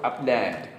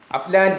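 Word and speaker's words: upland: രണ്ടാമത്തെ വാക്ക് അപ്ലാൻഡ്. അപ്ലാൻഡ് എന്നുള്ളത് അപ്ലൻഡ്. അപ്ലാൻഡ് 2 ഉച്ചാരണങ്ങളുണ്ട്.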